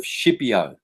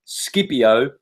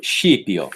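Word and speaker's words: Scipio: on the dream of shiio if you're Italian skipio for anyone else the dream of skipio properly pronounced shio now who was shio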